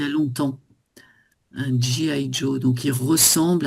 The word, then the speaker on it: G.I. Joe: Alors ici, en fait, on le prononce aussi un peu à l'anglaise. G.I. Joe.